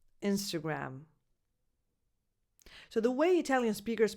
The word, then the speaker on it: Instagram: So you start with a lax e, as in the pronoun it, insta, and then the second vowel is a schwa, insta, insta. As many people call it, actually. Sometimes they just say Insta. Instagram. The last vowel is defined, and it's again a, like the word cat.